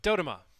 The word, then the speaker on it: Dodoma: So, but Dodoma. That's how to say it.